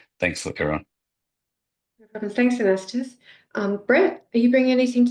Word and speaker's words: Anastas: Apologies if I pronounced that wrong. Yeah, so g'day everyone. My name's Anastas.